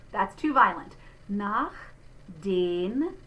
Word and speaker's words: den: Nach den. There is the closed E again. It's not den. Be careful because that's a different word in German.